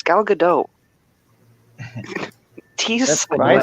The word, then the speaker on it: Gadot: No, it's a hard T at the end. We looked it up. Hard T. That's how everyone else pronounces it. That's how the ask Israelis pronounce it.